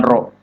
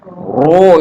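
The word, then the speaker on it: ر: Itu namanya ro, itu namanya menggemukkan ro. Iya. Ro itu sifatnya nanti istifal, iya, tipis. Tapi tafkhim, iya, hukumnya tafkhim. Sifatnya tipis tapi bacanya tebal.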